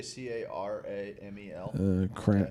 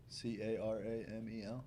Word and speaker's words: caramel: Steve, how do you say C-A-R-A-M-E-L? Cramel. C-A-R-A-M-E-L?